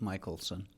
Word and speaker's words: Mickelsen: It's Mickelsen. We pronounce it Michelson.